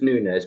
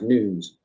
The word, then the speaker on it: Nunes: this on Authority right I know everybody in the world says Nunes but it's actually pronounced news the Portuguese only comparison